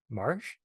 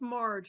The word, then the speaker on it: Marcia: Marsh, am I pronouncing that right? Marcia? Yeah, it's Marge or Marge.